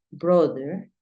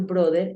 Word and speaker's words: brother: es masculino decimos brother no es usual decir brother Es mejor decir Brother brother Acuérdate que la th tiene como un cambio entonces no es brother no sino es Brother brother Después te enseño lo de la th y la hermana se